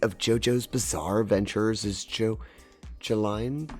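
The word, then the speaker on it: Jolyne: Part 8 of JoJo's Bizarre Adventures is Joline. I believe it's pronounced Jolien.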